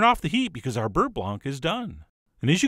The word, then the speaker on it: beurre blanc: And by the way, you keep hearing me say Beurre Blanc, but I believe in French it's correctly pronounced Beurre Blanc, which is exactly why I use the Americanized Beurre Blanc.